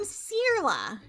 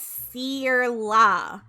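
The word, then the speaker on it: Saorla: i can ignore it i'm cirla that's seer la spelled s-a-o-r hooray don't mess it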